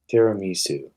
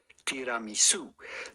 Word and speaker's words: tiramisu: Tiramisu.